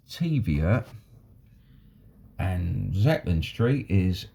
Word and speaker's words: Taviot: Apparently Taviot, those of you that are Scottish would know that Taviot would be pronounced as Teviot, and Zetland Street is Shetland Street.